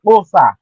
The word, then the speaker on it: Xhosa: Sir, You the will not Kosa find or the anything on Kos, the coastal pronounce language it right. looking it up with Say a K. you gotta say Kosa.